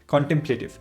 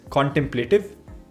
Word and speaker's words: contemplative: Contemplative ये एक adjective है और इसका मतलब होता है thinking quietly and seriously about something. There are two valid pronunciations of this word. One is contemplative, and the other one is contemplative.